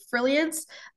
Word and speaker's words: Frilliance: and other pages is frilliance it's uh spelled like brilliant but with an F so yeah amazing thanks